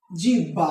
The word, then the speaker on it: জিহ্বা: উচ্চারণ কি হবে বলতো এটার উচ্চারণ হবে জিম্ভা অর্থাৎ দেখো হয় পর